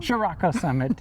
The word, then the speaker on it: Chiriaco Summit: Chiriaco Summit, yes.